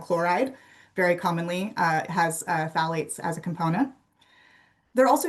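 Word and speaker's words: phthalates: So, I want to start with phalates. The the pH is silent. I always think of Daffy Duck when I see this word for phalates, but the pH is silent.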